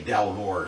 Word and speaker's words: Dalmore: Alright, I actually just did a quick check on the pronunciation. It's actually Dalmore, so I was pretty much correct in how it's pronounced.